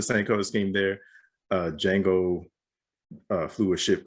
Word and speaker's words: Django: star wars with uh django unchained because i was like wait they're spelled differently but they're they're pronounced the same the color scheme is